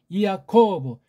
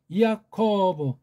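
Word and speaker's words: Ἰακώβ: 이사 아크대에겐 넬 센톤 이야코 야코브 야가 아닙니다 이입니다이야 코브 에네 센톤 이단 유단이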